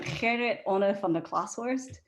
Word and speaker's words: Gerrit Onne van der Klashorst: It's Dutch. I think Dutch is kind of one of the most unpronounceable languages in the world. So they call him Onk. I'll say it one time, Gerrit Onne van der Klashorst, otherwise known as Onk.